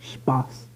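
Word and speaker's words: Spaß: the number which besides being German for fun pronounced Spas I don't know what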